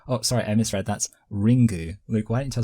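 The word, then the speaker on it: リング: um so yeah also in Japanese it might be pronounced ringu I think that's what you ringu yeah oh Ringle oh like that yeah that is how it would be pronounced obviously in Japan yeah uh but anyway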